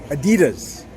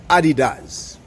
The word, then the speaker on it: Adidas: the time here in the states they typically pronounce it Adidas but um the official I don't know if there's an official pronunciation but the pronunciation is Adidas so the name Adidas comes from the name